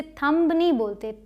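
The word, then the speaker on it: thumb: इसे हम बोलते हैं यहां पर साइलेंट होता है यह चुप रहता है जैसे यहां पर यह अंगूठा के लिए इसे थम थम थम कुछ लिखना हो तो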